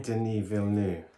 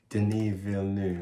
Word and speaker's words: Denis Villeneuve: who was the director again how do you pronounce his name denis villeneux dv didn't denis villeneuve that's so he's the director of blade runner